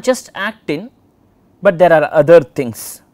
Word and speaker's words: actin: remember which is which act in is thin then the other one is thick and myosin stick so acting rhymes with thin okay that's how you